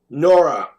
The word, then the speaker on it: Nora: Nora. Rhymes with Laura, okay.